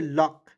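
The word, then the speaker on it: luck: उसके बाद देखेंगे एल यू सी के लॉक। एल का ल होता है यू सी देखिए इस यू को साइलेंट करेंगे के का क लिख देंगे दोस्तों लक ठीक है एल यू सी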